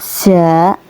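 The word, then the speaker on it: ز: Tempat keluarnya huruf za yaitu dari ujung lidah. Lebih tepatnya huruf za keluar dari ujung lidah yang menempel pada ujung dua gigi seri bawah.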